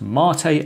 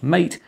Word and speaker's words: MATE: yes it is pronounced Marte and not mate as its named in Spanish after a South American drink in contrast to cinnamon